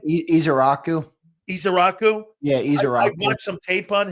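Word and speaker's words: Ezeiruaku: Yeah, Izaraku.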